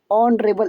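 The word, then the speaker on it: honorable: कह रहा है कि एन ऑनरेबल मैन, ऑनरेबल एक साइलेंट हो गया, फिर एन ले लिया।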